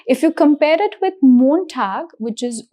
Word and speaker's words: Montag: If you can see the spelling has o single end. So the pronunciation here is short. It is montag.